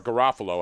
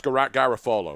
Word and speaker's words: Garofalo: Now, Mike Garafolo, or Garofalo, however you pronounce it. It's Garofalo, right? The guy who's a Philly guy.